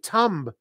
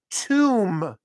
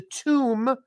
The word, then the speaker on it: tomb: This is called a tomb. It's called a tomb, and the B, silent. We don't pronounce the B, just an M.